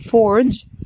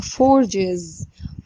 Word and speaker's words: forge: تمام لو الفعل عندنا بينتهي بالصوت ده زي مثلا الفعل forge forge يعني يزور، الفعل ده بيتنطق forge لما نيجي نضيف له الاس تبقى forges forges.